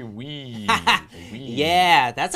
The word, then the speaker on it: Wii: Wii.